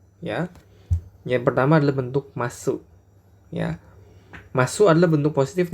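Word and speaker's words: ます: Yang pertama adalah bentuk masu, ya. Masu adalah bentuk positif dari kata kerja. Contoh, tabemas tuh kalian perhatikan ada masu ya. Ini dibacanya bukan masu tapi dibaca mas, ya. U-nya tidak disebut, ya.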